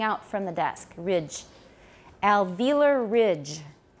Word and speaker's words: alveolar: see an o here in british english i believe they say they say alveola alveolus and some in americans say alveolar yoga uh but i've always said alveolar waziosanga india so that's the way we'll say it here alveolar alveolar sugar like